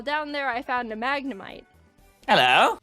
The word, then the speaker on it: Magnemite: there I found a Magnemite. Hello. Or as I like to say, Magnemite. Seriously, that's how you pronounce Magnemite.